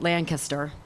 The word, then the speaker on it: Lancaster: and Lancaster, and I should say it right, Lancaster.